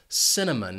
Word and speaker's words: cinnamon: This spice has 3 syllables, and the stress is on that first syllable, cinnamon. Notice that C is going to have an S sound, and it's followed by the schwa, cinnamon.